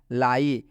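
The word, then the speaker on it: lie: आप देख सकते हैं यहाँ पर आई के बाद से ई आया हुआ है, यहाँ पर देख सकते हैं, इसलिए आई का उच्चारण आई हुआ है, इसलिए इस आई का उच्चारण क्या हुआ है?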